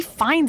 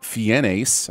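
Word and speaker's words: Fiennes: puberty you'll turn him into ra fines and red dragon first it's clearly Ralph fenes I mean learn to pronounce things but also referencing Ralph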